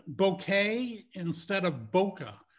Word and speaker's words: bokeh: what i've read it seems like bouquet from you know from the japanese or something is the correct way but i don't care